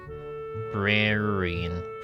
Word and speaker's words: librarian: Librarian librarian librarian. Oh, it's four syllables.